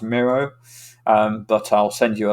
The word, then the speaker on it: Miro: this uh thing is called myro i think it's pronounced miro um but i'll send